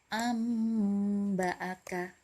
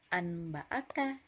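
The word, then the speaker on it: أنبأك: Jadi cara membacanya diubah menjadi mim dengan tempo gunnah yang dipanjangkan. Ya, seperti contoh berikut ini. Yang pertama, amba'aka. Nah, amba'aka. Nah, jadi nun mati bertemu dengan huruf ba. Jadi bukan anba'aka Tapi amba'aka dengan tempo gunnah ya, yang dipanjangkan.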